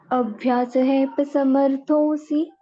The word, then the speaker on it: अभ्यासेऽप्यसमर्थोऽसि: अभ्यासेप्य समर्थोऽसि अभ्यासेऽप्यसमर्थोऽसि अभ्यासेप्य समर्थोऽसि। अभ्यासेऽप्यसमर्थोऽसि। माता जी से के बाद ना ह का उच्चारण कर रहे हो आप, सेहेप नहीं है, ह नहीं है कहीं पर भी। अभ्यासेप्य समर्थोऽसि।